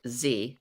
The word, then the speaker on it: zed: in the uk they say zed instead of z so did you say zte that is oh canada says zed too karen you're the you're in the minority